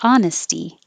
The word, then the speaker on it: honesty: you're i appreciate your honesty no h and honesty what couldn't you live